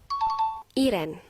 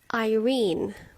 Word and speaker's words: Irene: Nama-nama Inggris yang salah pelafalan dalam bahasa Indonesia. Nomor 1, Rahel. Seharusnya Rachel. Iren. Irene.